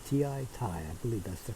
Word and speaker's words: Ti: I keep on saying Ti or T, but it's Ti. T-I, Ti.